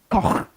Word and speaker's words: Koch: Pronounced Koch, and it's spelled Koch.